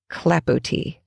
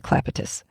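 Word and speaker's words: clapotis: at a Parisian Cafe it is spelled c a p o t i s clapot I almost couldn't watch the videos just because they kept saying Claus and every time that happened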